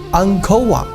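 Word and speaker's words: អង្គរវត្ត: 吴哥窟又称吴哥寺，高棉文读作安科瓦。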